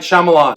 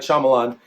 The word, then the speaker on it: Shyamalan: at the cabin movie review okay M night shyamalans that I pronounce Shyamalan Shyamalan M Night Shyamalan is back